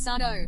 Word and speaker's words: Sado: He would then get irritated and exclaim, "That's Sado, no Mr. accent on the dough."